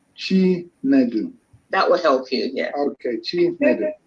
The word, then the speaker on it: Chinedu: It is Chinedu. Thank you. Chinedu. Chinedu. Yeah. So. I'll help you a bit. If you say chi and then nedu, chinedu. Chinedu.